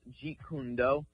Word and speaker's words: Jeet Kune Do: Yeah, it's actually pronounced Jeet Kune Do.